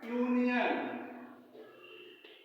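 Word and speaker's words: union: की आवाज यू हो जब यू का उच्चारण यू ही हो जैसे यूनियन यूनियन यूनियन कहां से शुरू हुआ है यू से और इसका उच्चारण भी कहां से शुरू हुआ यू से हम क्या पढ़ करेंगे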